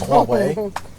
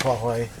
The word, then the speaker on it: Huawei: I think it's Huawei. I think it's pronounced Yahweh, actually. Do you?